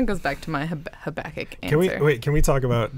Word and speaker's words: Habakkuk: It kind of goes back to the Habakkuk.